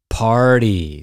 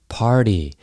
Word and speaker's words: party: Party. So that T right there is also a D. Party. Party all the time, party all the time.